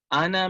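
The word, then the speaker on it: أنا: Ana min al-yabani. Ana min al-yabani. It's not pronounced as ana, but ana. The alif here is silent.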